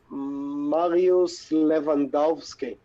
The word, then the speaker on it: Mariusz Lewandowski: But yeah, it's by Mariusz Lewandowski, right? Nailed it. Saying it right? Yep, nailed it.